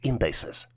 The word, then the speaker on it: indices: The plural version for indexes is spelled as INDICES and is pronounced as indices.